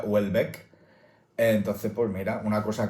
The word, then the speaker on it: Houellebecq: Yo llevo pronunciando Julebec un montón de tiempo. Michel Julebec. Michel Julebec. He buscado a propósito cómo se pronuncia y resulta que se pronuncia Wellbeck.